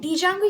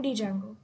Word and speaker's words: Django: the code for installing Django. Then space and Django. Django is usually spelled as Django and it is widely known as Django, not Django. The D is silent, but I prefer to call it Django.